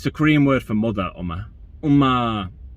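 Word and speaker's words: 엄마: It's the Korean word for mother, Uma. Uma. The reason I say it like that is because that's how one of the characters in Kim's Convenience says it.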